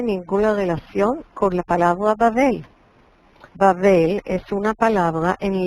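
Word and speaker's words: בָּבֶל: Por eso la ciudad se llama Babel, se pronuncia en hebreo Babel, porque ahí fue que donde el Señor confundió Balal, el idioma de toda la gente.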